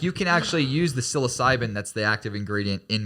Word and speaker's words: psilocybin: no there's no i think you're wrong it's syllable and psilocide it's p but it's just closer to the end psilocybin yes so it actually can actually help people